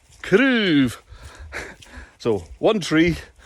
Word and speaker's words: craobh: And it's a good example too, those two words you can hear with a single syllable sound. It's quite long. Craobh. Craobh. And with a two syllable plural, craobhan is a little bit shorter. So that's the effect that stress has on certain sounds in Gaelic.